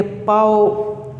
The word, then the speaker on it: bao: अब ये चारों BAO, क्योंकि चाइनीज़ में बी को वो पी पढ़ेंगे तो इसको हम कहेंगे पाओ।